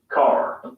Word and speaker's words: car: Notice that the final R sound is not pronounced in British English. Father ends in a simple schwa vowel, like father. And in car, the vowel sound is lengthened in place of the R sound. Car.